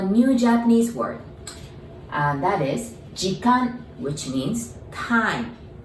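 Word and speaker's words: 時間: The pronunciation tip. Jikan, ji as in gin, you know, the gin tonics, gin, the ji. And kan as in kanpai. Remember, that means cheers, right? That kan.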